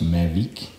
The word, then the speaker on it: Mavic: made in France by of course the company pronounced magic and this is a comment this wheel and